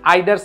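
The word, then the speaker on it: either: বসে তার মানে এখানে ইদার বা আইদার যেটাই উচ্চারণ করো এটা হচ্ছে কি এডজেক্টিভ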